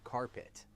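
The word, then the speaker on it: Card-Pitt: A team so bad they went 0 to 10 and were nicknamed card pit pronounced carpet because everyone walked all over them.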